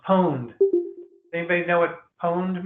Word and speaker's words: pwned: It's pronounced pwned. Does anybody know what pwned means, or pawned?